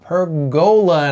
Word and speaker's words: Pergola: And today we are talking about Pergola, and I am using the UK pronunciation for that because that's where we live.